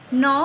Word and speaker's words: gnaw: G is silent in this word. We will say this word gnaw.